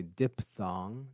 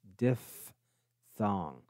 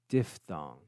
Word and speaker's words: diphthong: pronounce that word correctly some students say diphthong that's not correct it's diff thong diphthong two vowels coming together